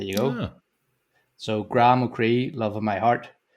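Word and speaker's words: mo chroí: Well, because I'm unsure as to how to pronounce that. Give it a go. I'm going to say Mocree. Mocree.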